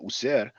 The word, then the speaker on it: Wsr: The W once again is the sound U. So we don't see any E here, but we add the vowel E. So it's smoother to pronounce.